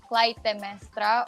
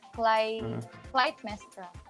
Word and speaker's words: Clytemestra: Either way, I prefer either way. It's you can call me Clytemestra or Clytemestra.